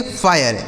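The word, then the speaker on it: fire: जैसे एफ से हो गया दोस्तों फ इस आई का उच्चारण आय हो गया। आर ई से र लिखा फायर। इसे क्या पढ़ेंगे? फायर।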